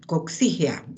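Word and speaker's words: coccígea: Aquí, coxígea, el acento en la I.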